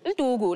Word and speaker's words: Ndugu: Oh, sorry for saying it like that. No, that's just how you say it. Say it the real way. Ndugu, like...